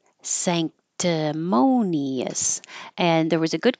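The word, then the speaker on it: sanctimonious: like an N um when the N is before a k the n and that would normally be in the front sand moves to the back because your tongue is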